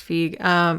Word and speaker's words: Feig: Paul Feig, I think that's how you say it. I don't think it's Fig. I think it's Feig.